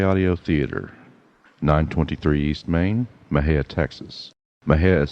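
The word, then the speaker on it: Mexia: to m j audio theater 923 east main mahaya texas maha is spelled m-e-x-i-a the zip is 7-6-6-6-7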